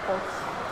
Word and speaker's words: folks: So that's the goal, folks. All right. I like saying that. Do you pronounce the L in that word? Folks.